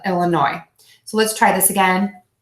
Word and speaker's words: Illinois: pronounce that final S, just like we do not pronounce the final S in my current state of Illinois.